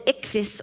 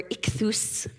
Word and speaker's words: ichthus: It's called the ichthus or ikchus for the Greek pronunciation.